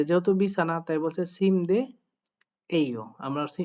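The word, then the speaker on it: 침대예요: উত্তর দিচ্ছে সিম দে যেহেতু বিছানা তাই বলছে সিম দে এই ও আমরা উচ্চারণ করব সিম দিয়ে এই ও এখন এখানে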